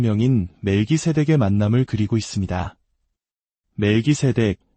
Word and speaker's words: 멜기세덱: 멜기세덱 히브리어 발음으로는 말키체에 가까운이 이름은 위의 왕이라는 뜻을 가지고 있습니다.